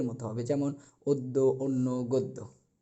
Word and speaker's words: গদ্য: অনুরূপভাবে গদ্য বলতে পারবো না। এটাকে উচ্চারণের ক্ষেত্রে বলতে হবে গদ্য। অর্থাৎ গ একটা ওকার আসবে। বদ্য আশা করি আপনারা সকলে